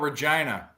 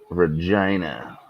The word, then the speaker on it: Regina: hi gonna talk about Regina Regina I thought it was Regina my whole life it rhymes with fun come on I know Musa